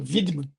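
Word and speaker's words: Wiedemann: o helm por sinal Ele é Alemão então o nome dele ele se pronuncia vidman eh faleceu há do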